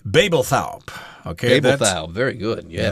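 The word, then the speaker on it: Babeldaob: Yeah, that's not exactly how it's spelled. It's not phonetically correct at all, yeah. The writer of this article has actually been there, so she knows how to pronounce these words, and that's that island there, Babelthaup.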